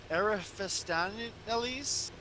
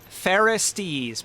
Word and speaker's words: Pharistes: Is it Ariphistaneles? Pharistes, Pharistes. Okay. Pharistes. Not the general in command of all the armies of Altaru.